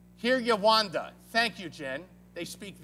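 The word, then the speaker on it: Kinyarwanda: They speak Kirigandan. Kirigandan? How do you pronounce it, Chad? Kiryawanda.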